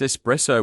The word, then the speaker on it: espresso: People often say espresso, but it's espresso with an s, not an x.